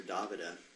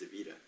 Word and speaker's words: Davida: talking about uh Davida everybody calls her DaVita but actually her name's pronounced Davida uh I was with her